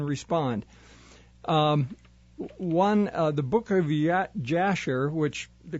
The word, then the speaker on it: Jasher: One, the book of Jasher, which the correct pronunciation is Yashir, I was told by a Jewish gentleman.